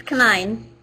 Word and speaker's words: Canine: It's canine, but close.